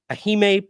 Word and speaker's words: Ehime: The Guinness Book of World Records previously recognized a 2021 event from Ahime. How do you say that? EHIME. Ahime Pro Wrestling, EPW, as the record holder for